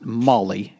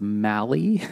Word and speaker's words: Maali: he like uh so Molly is is not Molly it's Mali m-a-a Mal or m-a-a-l-i uh someone did the